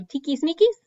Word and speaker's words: tiquismiquis: So remember the QUI makes a key sound. So tiquismiquis, I think it's just a fun word to say.